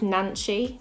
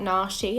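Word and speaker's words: Nanshy: brush oh I think I found it with nan Chi not na she I've been saying it wrong the whole time because the N is like looks like an R that's just me being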